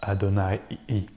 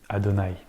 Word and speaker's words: Adonnaï: what that character was this time the name Adonai came to mind and if you've read the novel as it's in English yes it's pronounced Adonai Adonai so here you have the background story between